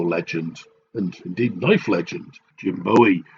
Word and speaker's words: Bowie: and indeed life legend Jim Bowie sometimes pronounced Jim Bowie and he also wanted